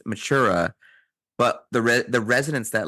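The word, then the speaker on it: Mathura: in a city called Matra which is actually pronounced matura but the the residents that live there all call it Matra as sort of like a a slang for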